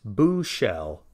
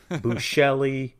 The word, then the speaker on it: Buechele: pronounced a million ways buchelli buckley buchell there have been a couple people kind of hacking it up a little this name is of german heritage the americanized version of